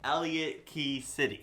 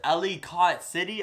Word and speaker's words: Ellicott City: exactly what happened in Elliot key city I think it's pronounced Ellicott City I think I pronounced it right there but it just